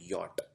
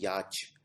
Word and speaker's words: yacht: इसको प्रोनाउंस करते हैं यॉट। इसको बोला हिंदी में बोला जाता है याच।